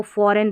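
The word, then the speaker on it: foreign: इसको फॉरेन पढ़ा है इसलिए। अब ये स्पेलिंग गलती होती है इसमें।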